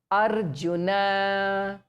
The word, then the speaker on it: Arjuna: We pronounce it exactly the way it should be pronounced. Arjuna, Naraha, Aparani, Naraha, Aparani.